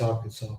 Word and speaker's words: Arkansas: It's Arkansas. But people say if you read it, if you read how it's spelled, you say Arkansas. Kansas. Yeah.